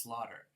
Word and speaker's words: slaughter: laugh and that the other word is pronounced slaughter.